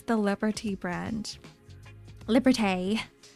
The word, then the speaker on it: Liberté: Liberté is probably how you pronounce it, because they've got the little accent above the E.